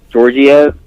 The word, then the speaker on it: Georgiev: I want to say it correctly, Georgiev, I believe is how you say it, but just stood on his head, saw all 44 shots and turned them all away.